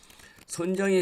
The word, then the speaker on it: 손정의: 손정희 회장은 한국어 발음입니다. 손정이 일본어는 선호 마사요씨라는 소프트뱅크 그룹의 창업자이자 회장겸 CEO입니다.